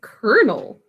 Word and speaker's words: colonel: you got that right but weirdly enough we say colonel who came up with